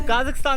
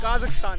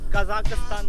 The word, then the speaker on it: Kazakhstan: तो काज़ाकिस्तान से एग्जिट करते हुए एक बात बताना चाहूँगा कि काज़ाकिस्तान की प्रोनाउंसिएशन काज़ाकिस्तान है, कज़ाकिस्तान नहीं है, जो कि मोस्टली इंडियन बोलते हैं।